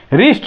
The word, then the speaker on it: wrist: रिस्ट, WRIST, रिस्ट means कलाई होती है, तो यह जो है आर के पहले डब्लू है, इसलिए इसका प्रोनाउंसिएशन नहीं करते हैं, डब्लू साइलेंट हो जाता है।